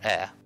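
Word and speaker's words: あ: for the next character this is a or a this equivalent it's the equivalent of the vowel E in English you pronounce this as a is a short vowel let's let's practice writing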